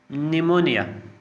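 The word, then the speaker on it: pneumonia: निमोनिया, अब देखिए पी यहाँ पे साइलेंट है।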